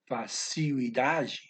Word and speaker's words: facilidade: facile, okay, which means you got to make that L a oo sound, right? So even though it's in a compound word, you're still not going to pronounce that L. It's going to be facilidade.